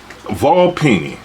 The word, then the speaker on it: Volpini: Volpini. Correct. That's how you pronounce it.